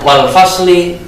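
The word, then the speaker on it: والفصل: Selanjutnya wal fasli, kita baca wal fasl, ini bacaan waqaf, bacaan berhenti.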